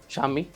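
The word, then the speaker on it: Shami: नहीं असल में उसकी जो प्रोनाउंसिएशन है वो शमी कहते हैं ना उसको। शामी कहते हैं। मोहम्मद शमी, अब वो शमी है शामी है।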